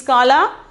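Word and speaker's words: काला: Okay, kala, pronunciation is kala.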